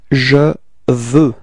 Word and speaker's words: je veux: Okay, and the form we get is je veux. Repeat. Je veux. Okay, so you can see that the final X is not pronounced. Okay, it's je veux.